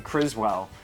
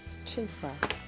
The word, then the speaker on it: Chiswell: So my New England accent, putting R's in where they don't belong and dropping them where they do belong. I was saying Criswell, but it's obviously not that, so look it up.